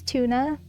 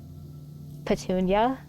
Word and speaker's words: Ptuna: Her name's Tuna. It's spelled Ptuna, like pterodactyl. And everybody always says Petunia. And I'm like, it's literally tuna. It's tuna.